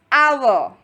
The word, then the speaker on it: hour: Well, the reason is the word is starting with a consonant, H, but H is silent.